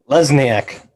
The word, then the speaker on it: Lesniak: you know butcher it how do you pronounce your last name lesniak leslie okay just uh the way it's spelled so we got dan